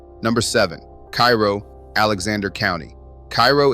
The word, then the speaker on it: Cairo: Cairo is pronounced Cairo by the people who live there, which used to be considerably more people than it is now.